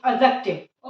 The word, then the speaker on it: adjective: सबसे पहले प्रोनाउंसिएशन पे ध्यान देते हैं। यहाँ पे डी साइलेंट रहता है बट फिर भी हम बचपन से सुनते आ रहे हैं, काफी टीचर्स भी मिस्टेक करते हैं।